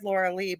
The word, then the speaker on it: Lorelei: Lorelei. It's spelled Yes, Lorelei. I said Lorilei, but I am named after the mythology of the yes, Lorelei's.